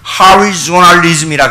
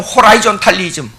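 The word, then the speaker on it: horizontalism: 로마 교조주의를, 그 교리를, 이 성경의 그 원형에서 변화된 교리를 갖다가 뭐냐면 하리조널리즘이라 그래요. 자, 이걸 어떻게, 이제 단어를 외국어로 안 쓰려고 그랬는데 어떻게 이 일종의 수평주의라, 수평주의. 한국식으로 발음하려면 호라이존탈리즘. 하리조널리즘이라 그래요.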